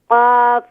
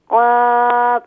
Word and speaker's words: قاف: Qaf is pronounced more full mouth, please. قاف زبر قا. Qaf زبر قا. قاف زبر قا.